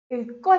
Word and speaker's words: 읽고: Then we have 읽고 싶어요. Want to read something. So when these two letters are coming together, they will give me a sound of the stressed k sound. K.